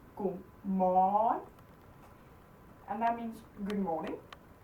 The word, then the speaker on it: godmorgen: Godmorgen. Godmorgen. So you just stretch it. Godmorgen.